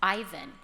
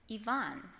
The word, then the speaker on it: Ivan: politely but very firmly if people try to call him Ivan he says he's only seven but he'll say no my name is Yvonne and he waits until the person carefully correctly pronounces it Ivana do you do